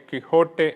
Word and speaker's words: Quixote: don't കിക്സോട്ട് എന്ന വാക്ക് ഈ കിക്സോട്ട് എന്നതിനെ കിക്ക് ഹോട്ട് എന്നാണല്ലോ ഉച്ചരിക്കേണ്ടത് എന്ന് നിങ്ങളിൽ ചിലർ കരുതുന്നുണ്ടാകും സ്പാനിഷ് ഉച്ചാരണം അങ്ങനെ തന്നെയാണ് എങ്കിലും ഇംഗ്ലീഷ് ഭാഷയിൽ ഈ കിക്സോട്ട് എന്ന പദം കിക്സോട്ടിക് എന്ന അഡ്ജക്റ്റീവ് വളരെ ഉറച്ചു പോയതുകൊണ്ട് ഇനി അതിനെ അങ്ങനെ തന്നെ പറഞ്ഞാൽ മതി എന്ന് നേരത്തെ ഞാൻ പറഞ്ഞ